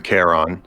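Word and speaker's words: Kharon: hit me yeah so the name is the caron uh it's spelled with uh k-h-a-r-o-n um as it was named after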